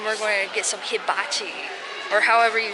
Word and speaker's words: hibachi: Now we're going to head over to the food court and we're going to get some hibachi, or however you say it.